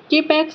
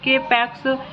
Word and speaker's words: K-PAX: After claiming he is in extraterrestrial from the planet K-Pax 1000 light years away in the Lyra constellation, thought not capitalized and pronounced with a long O rhyming with bot, is committed to the Psychiatric Institute of Manhattan.